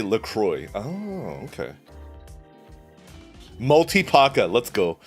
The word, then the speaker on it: La Croix: cooking dude okay okay la croissant la crosse i looked it up and the company tells us to say lacroix oh okay multipacker let's